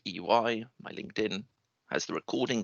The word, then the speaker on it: Ey: so my name is ey you pronounce it eui my linkedin has the